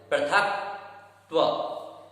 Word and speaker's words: पृथकत्व: जो प्रथम पद है पृथकत्व, इसमें जो था है उसमें का जो पद है उसे जोड़ देना है। पृथकत्व, पृथक अलग बोलना है, त्व अलग बोलना है, जिससे उच्चारण सही होगा। पृथकत्व एक साथ बोलेंगे पृथकत्व, पृथकत्व, इस प्रकार से यहाँ उच्चारण किया जाएगा।